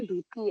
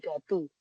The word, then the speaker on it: duty: Bacanya duty ya, Guys. Bukan dati duty manager.